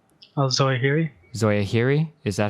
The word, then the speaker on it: Zawahiri: Zawahiri. Zawahiri? Is that how you pronounce it?